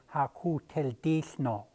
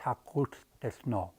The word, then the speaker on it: Hakot Del No: When I first trying to learn how to say it, I said Hakot Del Dis No, like an English speaking native guy, I guess. But it's Hakot Del No.